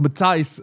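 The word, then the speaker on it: Matthijs: Makio says, "I told you from day one is pronounced Mati."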